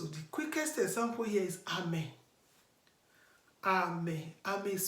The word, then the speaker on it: Ame: So the quickest example here is Ame. Ame. Ame is spelled as A-M-E.